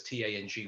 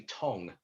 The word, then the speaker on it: Tang: of your last name i know it says t-a-n-g which is tang because that's how we pronounce it but his variation to me is slightly different if it was the english direct translation in cantonese it would be tong so i was like